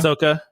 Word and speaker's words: Ahsoka: and Andor and I never know how to pronounce that other one Ahsoka Ahsoka is Ahsoka okay Asoka uh so they're going to have uh new